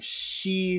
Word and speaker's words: she: C cells okay but now the first sound is that sh that we have to do so lift up your tongue She cells she cells she